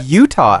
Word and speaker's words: Eutaw: Now, if he had been told he needed to go and work in Utah, there is a Utah, Alabama as well. No. EUTAW is how you spell it.